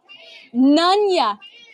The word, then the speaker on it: Nunya: Nunya. I was pronouncing it wrong. Thank you. I finally saw your comment. Like Nunya business.